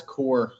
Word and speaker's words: Kuhr: in Florida. Nice to meet you. Am I pronouncing your surname correctly? You got it. It's core. Like, oh, core.